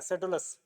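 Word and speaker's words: Pseudolus: miles क्लोरगस और ये सेडोलस ठीक है भाई पी साइलेंट रहता है सेडोलस फिर रोमन कॉमेडी में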